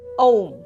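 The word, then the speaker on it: ওঁ: এই যে ওম যখন উচ্চারণ করছি, আমি যদি ইংলিশে কথাটাকে লিখি AUM, ওম, ওম, এইভাবে উচ্চারণ করছি, তো চন্দ্রবিন্দু যে উচ্চারণ করতেই হবে এরকম কিন্তু কোনো মানে নেই।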